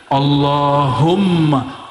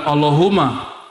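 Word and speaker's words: اللهمّ: situ ada mimnya Allahumma Gimana cara bacanya Allahumma bukan Allahuma allahum dia mesti ditasdidkan Allahumma ya dan dia harus men idgham ya ada rahasia di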